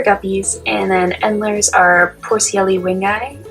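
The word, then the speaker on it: Poecilia wingei: and then ENDLER's are Porcielli wingi, is how I would have pronounced that one, but I was also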